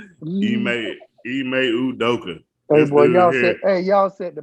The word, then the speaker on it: Ime Udoka: Ime Udoka. Ime Udoka.